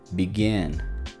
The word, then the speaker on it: begin: En la palabra begin, begin, este sonido está dos veces, pero entonces el acentuado es el segundo, begin, begin. La siguiente palabra, divorce, divorce, es corto el sonido porque el acento va en la otra sílaba, divorce.